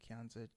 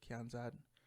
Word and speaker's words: Kianzad: i don't know how to say her name kianzid kianzad sorry penny so it's a jarvis panty and